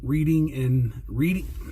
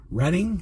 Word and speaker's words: Reading: Reading? That's how you say it, right? Reading? Kind of like the railroad.